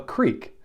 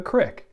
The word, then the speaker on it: creek: in gilead you would call that small stream a creek but in ephraim you'd call it a crick so if you said